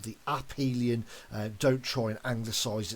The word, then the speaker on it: aphelion: then we have the aphelion okay notice the pronunciation there it's called the uphelion don't try and angle size it and say aphelion we've obviously as we said we've got that